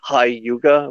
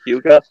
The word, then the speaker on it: Hyuga: say Elric and mi they say hi Yuga when it's actually Hyuga or taiga or guca